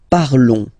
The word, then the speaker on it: parlons: Nous parlons, okay? Remember, final s is not pronounced, okay? And then this on together, they will give you the sound on, okay?